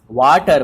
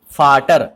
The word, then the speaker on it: Vater: Okay, that's why it will not be pronounced as water, but it will be pronounced as Vater.